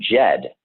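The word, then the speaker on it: Djed: And it comes from the root word Jed, and Jed is spelled D-J-E-D.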